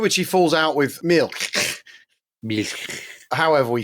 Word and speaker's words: Milch: the point at which he falls out with Milk. However we say it. We never did resolve it. Well, actually, I've just been listening to you reading Battle of Britain, and you go, Mish.